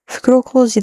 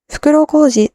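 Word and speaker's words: 袋小路: The word there is Fukuro Koji da, Kashin Koji. Fukuro Koji literally means cul-de-sac or dead end, but because it's pronounced Koji, which is the same as Koji's name, it becomes a pun.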